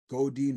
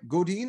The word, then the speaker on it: Godin: episode is all about go Dean method now did I say that right godine or is it Godin goodin good in okay good I said it right so David let's just